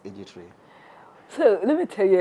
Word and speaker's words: iGiTREE: Yes, it rhymes like IGT and iGiTREE, but actually the IGI means igisekuruza tree. But I cannot say, that's why I say iGiTREE.